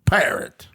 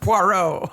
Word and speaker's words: Poirot: wants you to take care of his porro pirate it's pronounced poro okay the guy says I have a parrot